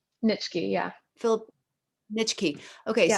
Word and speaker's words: Nitschke: Philip Nietzsche, how do you pronounce his name? Nitschke, yeah.